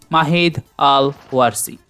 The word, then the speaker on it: Mahid Al-Warsi: Mahid Al-Warsi. Pronounce it correctly, Mahid Al-Warsi.